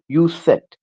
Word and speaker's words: Undset: उन्हीं में से आज एक राइटर को हम कवर करेंगे जिनका नाम है सिग्रिड यू यूसेट। एन को साइलेंट करना है।